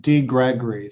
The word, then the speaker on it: DeGregori: So it's just DeGregori. So it's Gregory and put a D in front of it.